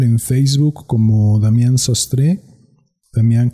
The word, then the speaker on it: Damián: Si desean estar al tanto de el contenido que publico, me pueden buscar en Facebook como Damián Sastre, Damián con acento en la segunda A, Sastre con acento en la E.